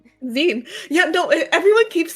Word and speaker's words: zine: Zen Z I N E O Zen.